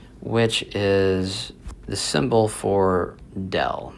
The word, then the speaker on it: del: is the symbol for dell. So this is pronounced as dell and that stands for the gradient.